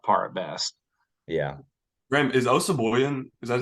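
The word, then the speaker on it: Osabuohien: Graham, is Osaboyan?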